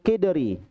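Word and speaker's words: قدر: Al mil'aqatu fil kidri. Bukan qadri ya, kidri. Nah, kalau qadar ya, qadri itu qadar. Ini kidr itu artinya panci ya, panci.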